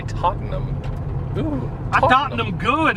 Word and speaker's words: Tottenham: Ooh, I bet they say Tottenham here. But in England, they'd say Tottenham.